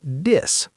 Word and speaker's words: this: Think might sound more like tink, and this might sound like dis.